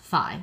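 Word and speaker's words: phi: it's easier eroded out this is row and this is H fi so kind of like high and row like row your boat that's how you pronounce them um okay so again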